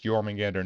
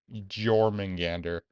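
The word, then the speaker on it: Jörmungandr: no wrong and also it's yman Gander not jorman Gander what definitely pronounced that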